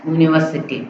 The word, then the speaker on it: university: next, he studies in dash university. university என்னது? vowels letter வந்திருக்கு u. ஆனா pronunciation எப்படி இருக்கு? u. consonant pronunciation இருக்கனால என்ன யூஸ் பண்ணனும்?